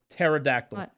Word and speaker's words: pterodactyl: a lot of people pterodactyl pterodactyl yeah there's a silent p in the front I didn't know that